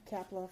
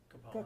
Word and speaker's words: Kapala: thank you I have Kapla from I'm sorry said your name wrong kapala kapala kapala from Consumers Energy and he's